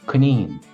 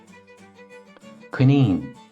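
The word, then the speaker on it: coinín: is the rabbish the Irish rabbish is Kine Kine Kine and moving on we have our prickly friend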